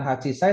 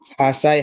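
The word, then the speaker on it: 八歳: Hachi ketemu Say itu bukan Hachi Sai tapi hasai.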